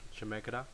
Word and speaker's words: Chemeketa: I'm gonna look at the one at my community college that I attend, that is called Chemeketa. That's how it's pronounced, because it's an Indian word.